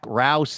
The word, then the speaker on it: Rouse: this to you, but it says rhymes with house, and I think you nailed that. Zachary talking Rouse.